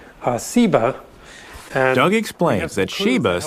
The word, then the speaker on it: Seba: think is related that has just a different s sound seba and ugly explains that